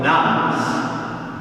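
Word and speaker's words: nones: National barometers like the Australian Bureau of Statistics census have shown that the so-called nuns, and that's not nuns as in a Catholic nun, that is spelled N-O-N-E-S, the nuns, those having no religious affiliation, continues to grow from one census to the next.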